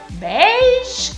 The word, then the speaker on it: beige: y pasó también con veis qué será eso es beige el italiano se pronuncia como en francés muchas palabras francesas se